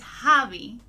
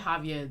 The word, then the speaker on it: Javi: Yeah, he plays Javi. Oh my God! Did I say it wrong? I said Javier, didn't I? It was Javi.